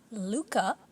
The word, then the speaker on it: Lucas: So, Luca, although it's spelled Lucas in English, it's pronounced the French way.